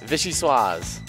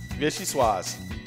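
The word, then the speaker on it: vichyssoise: to say this but then i saw the pronunciation was right there um national fishy swas yes vichy suas vishy suas yeah that's how it says fishy swas made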